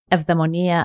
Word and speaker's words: eudaimonia: And it's interesting because in Greek, actually, eudaimonia, as Greeks pronounce it, it means to be in sync with your demon.